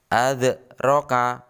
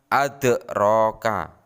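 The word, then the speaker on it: أَدْرَاكَ: Bacanya dengan memantulkan kecil pantulannya. Adzroka, adzroka, bukan adroka.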